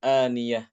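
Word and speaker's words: آنية: Kata-kata aniyah ya. Surat Al-Ghasyiyah itu pada ayat berapa tuh? Aniyah. Surat Al-Ghasyiyah. Tusqa min ainin aniyah ya Ustaz ya. Tusqa min Ya, itu ainin. tusqa min ainin aniyah.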